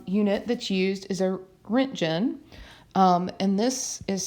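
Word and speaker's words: roentgen: that's used is a rent gen and this is spelled okay and it's pronounced like rent and then gin right just like that and this measures high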